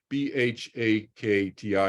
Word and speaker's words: bhakti: they've you know uh they've performed a bhakti b-h-a-k-t-i is how you spell it in English but the Sanskrit is bhakti